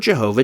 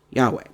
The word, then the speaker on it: Yahweh: form Jehovah stating that the word Jehovah does not accurately represent any form of the name ever used in Hebrew and that it is almost if not quite certain that the name was originally pronounced Yahweh very pointed criticisms very